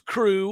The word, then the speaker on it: Krewe: But what they wrote was, big news, crew. Of course, crew is spelled Krewe.